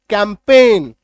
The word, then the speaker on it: campaign: Assign, CAMPAIGN, जी को काट दो, अब पढ़ो। कैंपेन, आई बात समझ में,